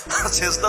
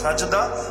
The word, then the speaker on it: সাজদা: অর্থ নাই অবশ্যই আছে সেজদা শব্দের অর্থই হলো জাভাতি আলাল আর্থ মাটির উপর কপাল রাখা আরবিতে বলে সাজদা যেটা আমরা বিকৃত উচ্চারণে বলি সেজদা আরবির মূল শব্দ সাজদা ওই সাজদা অর্থই হলো